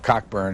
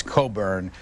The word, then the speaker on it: Cockburn: to do this but she said mr. Cockburn and it's Coburn but why do people